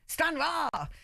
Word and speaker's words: Stranraer: Is it Stranraer? I'm not good at my Scottish pronunciation. Stranraer. Even better. Rah at the end.